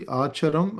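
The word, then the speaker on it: अचरम्: So um since this is pronounced as cha um this is actually acharam and charam like just to let you know. So anytime we have see it's it's always um cha in this Sanskrit.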